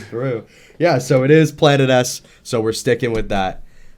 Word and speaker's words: Planetes: beginning of the last video was how to pronounce Planet s and right after I had posted the video